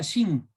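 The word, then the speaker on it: שין: Se pronuncia Shin. ¿Sí? Y en algunos casos suena como una S o en otros casos como una SH. ¿No? Por eso el nombre Shin.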